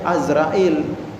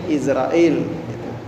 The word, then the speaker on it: Izrail: dan akan kembali kepadanya malaikat Izrail atau Azra in kalau di kalangan di kitab-kitab itu bacanya azrail Nah kita di Indonesia disebutnya sering Izrail sampai-sampai ada nyanyinya penyanyi